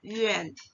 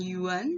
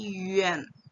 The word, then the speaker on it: yuan: Itu akan dibaca menjadi Yuan. Yuan. Contohnya konsonan Y, kemudian ditambahi dengan vokal U, dan An, itu bacanya menjadi Yuan. Bukan Yuan, tapi Yuan. Yuan.